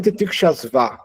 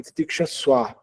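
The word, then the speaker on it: titikṣasva: O V, quando ele não está no começo da sílaba, ele vai ter sempre som de U. Tanstitikshaswa bharata. Titikshas, não é titikshasva, é titikshaswa bharata.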